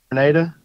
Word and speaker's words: Grenada: And I think is it Grenada? Is that how you say it? Yep, just like the island, Grenada.